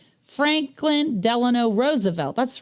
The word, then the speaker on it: Delano: Franklin Delano Roosevelt.